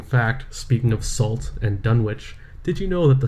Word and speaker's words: Dunwich: probably a Dunwich or whatever, and it's like Dunwich or Greenwich or whatever. They have cute ways of pronouncing things.